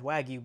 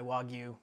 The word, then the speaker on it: Wagyu: of redo the previous video I did about Wagyu beef, which in general is a little bit more robotic, and I said Wagyu beef instead of Wagyu beef.